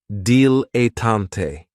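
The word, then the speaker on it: dilettante: my favorites is a dilatant and this word has three syllables and there's kind of like a stress on that first and last syllable deal a tante the reason I say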